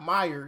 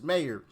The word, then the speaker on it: Maher: I I think I remember one of you guys like letting me know, "Hey, no, it's not Myer, it's Maher."